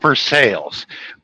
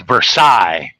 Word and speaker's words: Versailles: explain to them yes we pronounce it for sales but in French it's Versailles right yep I said